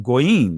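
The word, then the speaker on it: גויים: So it's saying that in Hebrew, the word Gentile is pronounced goyim. That's plural, right? Goy or gayam, right? Gawayam is another way to pronounce it in ancient Hebrew.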